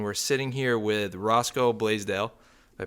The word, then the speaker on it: Blaisdell: We're back down here in New Hampshire again, me and Isaac, and we're sitting here with Roscoe Blaisdell. Did I pronounce that right?